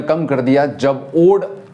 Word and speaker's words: ode: हम इसको पढ़ते हैं, कुछ लोग इसको ओडे पढ़ते हैं, बट हम इसको पढ़ेंगे ओड because it's the correct pronunciation ओड।